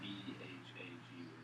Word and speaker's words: BHAG: How do you pronounce that B-H-A-G word? BHAG. That's the way he pronounces it anyway.